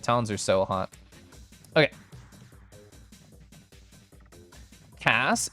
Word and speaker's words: Kass: are so hot okay Cass it rhymes with brass well I don't think